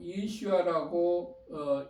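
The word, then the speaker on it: ישוע: 그리고 예수아라고 읽은 것은 히브리어 원어가 예수아를 뜻하고 있습니다. 말하고 있습니다. 표기하고 있습니다. 그래서 예수를 예수아라고 쓰는 것이 올바른 표현입니다.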